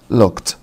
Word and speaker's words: looked: عندنا look looked look looked طبعا بعد الكه ساوند الإيدي بتنطق تي. look looked.